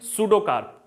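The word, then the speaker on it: pseudocarp: सूडो, ये P silent है, बात समझ रहे हैं, सूडोकार्प।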